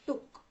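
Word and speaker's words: took: भी आप देखेंगे तो स्पेलिंग है टी ओ ओ के पर हम लोग उच्चारित करते वक्त बोलेंगे टक छोटा सा ज्यादा लंबा उ नहीं लेना है छोटा है टक तो शी टूक हर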